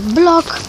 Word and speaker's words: vlog: vlog vlogmas pod tytułem vlog blog i tak pisze się vlog a a wymawia się blog.